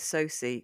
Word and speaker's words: Sosie: favourite thing about Kevin Bacon, his daughter's name is Sosie, which is spelled Sosie, and so she's basically just sausage bacon.